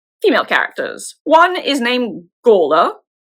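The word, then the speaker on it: Gormflaith: One is named Gola. It is definitely not spelled that way, but that is how it is pronounced.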